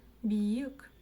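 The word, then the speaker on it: биік: И вот смотрите, вы видите мягкую букву И мягкую букву О. Вот эта вот мягкая буква О. Помните, я вам говорила, что палочка с точкой, да, - это нечто среднее по мягкости между буквами ы и и.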